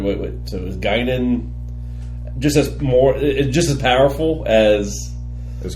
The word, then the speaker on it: Guinan: Is it pronounced Guinan? Whoopi Goldberg's character? Guinan. Guinan, yeah.